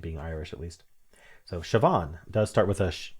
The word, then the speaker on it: Siobhan: Okay, it's pronounced Siobhan, which is not clear from the spelling, but it's because it's Irish. I was right about it being Irish at least. So, Siobhan does start with a shh sound without sh.